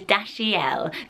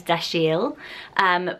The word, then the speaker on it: Dashiell: to pronounce it, and it is Dashiell. So you pronounce the middle bit quite strongly, but most people think this is Dashiell.